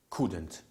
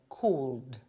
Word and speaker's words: could: You just said cold. Yes. Because the word is spelled with an L, but we don't pronounce it.